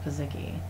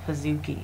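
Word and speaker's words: pizookie: this look of s'mores pizaki that's how you say it's weird i thought it was pazuki but it's not cookie no they're little cookie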